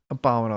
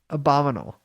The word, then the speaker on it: abominable: started this thing talking about the abominable snowman abominable that's cute what it's abominable what did i say abominal i was just probably wait what if